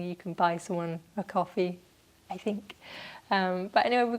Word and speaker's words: Ko-fi: If you've never heard of coffee, I think I'm saying it right. For the longest time I was saying Ko-Fi, which I don't think makes sense. I don't think that's right. I think it's coffee, as in, because originally